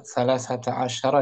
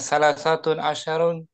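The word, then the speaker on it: ثلاثة عشر: Perhatikan tuh dibacanya dibacanya salasata asyar ya fathah nih jangan salasatun asyarun ya dia tetap mabni kedua-duanya mabni di atas fathah salasata dengan salas satu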